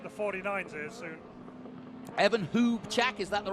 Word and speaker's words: Hubchak: Evan Hubchak, is that the right pronunciation?